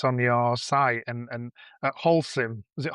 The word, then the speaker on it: Holcim: stats that's on your site, and at Holcim, is it Holcim? Is that how you pronounce it?